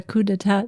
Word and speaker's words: coup d'état: That in 1970, with I don't know how to pronounce it. Really, it was coup d'état Oh, yeah, coup d'etat.